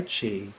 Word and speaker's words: chi: or use of inner spirit energy or chi pronounced chi c-h-e-e actually spelled in most most terms and